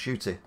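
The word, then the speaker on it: Ncuti: other roles uh where are we where it's pronounced shooty shooty uh seems perfect for the doctor i've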